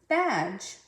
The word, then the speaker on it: badge: When you have a D, G, E, the D is silent.